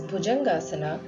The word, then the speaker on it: Bhujangasana: The cobra pose, pronounced as Bhujangasana, stretches muscles in the shoulders, decreases stiffness of the lower back, and increases the flexibility.